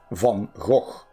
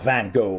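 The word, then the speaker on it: Van Gogh: this isn't suicide though van go how wish I was there right now mhm or actually Von go Vincent Von it's not van go but obviously that's easier to pronounce the national Galleria of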